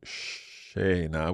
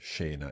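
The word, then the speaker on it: scena: think sha spell sha okay so sha we've got a sh sound like a sheep in English and that is going to be the combination of s and C followed by an i or an e here we've got e sha s c e n e okay so make sure there is no h in the way you have spelled this word you don't need it and sha means like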